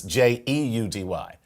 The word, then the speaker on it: Jeudy: I don't know anyone with the last name of Judy. That's all I'm saying. Well, maybe I'm saying it wrong because it's Jeudy.